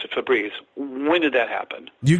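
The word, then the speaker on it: Febreze: e b r e e FES but they pronounce it fabreze when did that happen you got all this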